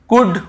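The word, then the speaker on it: could: आपको याद ही है कुड वुड शुड कितना इजी है यहां पर क्यों हम आप देखिए डी डी को लास्ट में हम नहीं पढ़ रहे क्यों क्योंकि सॉरी एल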